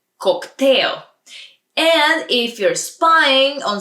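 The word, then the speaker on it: коктейл: order a cocktail cocktail it's almost the same but just a little different pronunciation in Bulgarian cocktail and if you're spying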